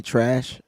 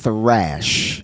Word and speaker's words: Thrash: Did I really just say trash? I did call him trash. That's why I asked you what his last name was. I think the H is silent.